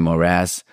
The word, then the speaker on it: morass: stuff, when there was the subprime morass, emphasis on the second syllable.